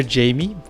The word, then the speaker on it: Jaime: Yeah, if you could pronounce Jaime, that'd be great. It's like saying hi to the month of May.